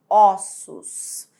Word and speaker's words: ossos: a minha boca osso quando você passa para o plural Você tem ossos é como se aqui bem aqui nesse ou tivesse um acento circunflexo porque tá sendo pronunciado com o som fechado isso e aqui quando se passa para o plural ficaria com o som como se tivesse um acento agudo porque sai um som aberto ossos osso ossos tá vendo